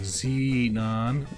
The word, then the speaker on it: Xenon: delar yeah think there's one for Xenon was like Zenon yeah zon um